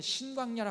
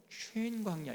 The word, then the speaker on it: 신광야: 근데 여기 바란광야 다음에 신광야는 사실은 신광야라 하면 안 되고 정확하게 발음하면은요 쉔광야 이렇게 발음해야 돼.